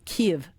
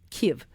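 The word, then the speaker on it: Kyiv: You know, I when I was a kid, it was Kiev. Now it's K. Well, yes. It's actually the way they say it. It's it's actually two syllables, but it's very subtle. It's Kiev. Kiev, you know.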